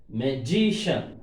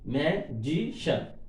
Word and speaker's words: magician: Electrician, magician, shan before G, magician. Three syllables are there. Shan is suffix. This suffix before syllable we have to stress.